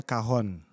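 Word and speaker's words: cajón: C-A-J-O-N, tapi bacanya kahon.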